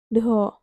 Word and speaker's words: Doho: Mada do Mada do Doho Kalau bahasa Bima itu Enggak misalnya de itu bisa jadi do Doho Doho pengucapannya beda gitu loh maksudnya itu D itu enggak diucapkan dengan D yang seutuhnya tapim kayak ada garis